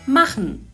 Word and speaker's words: machen: geçelim yapmak fiilinin Almancası Mahmut mahanne diye yazılır Mahmut diye okunur ben yapıyorum ihva hı sen yapıyorsun bak